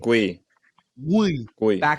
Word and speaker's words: Guiu: Guiu. Back of the throat. Guiu. Yeah, Catalan.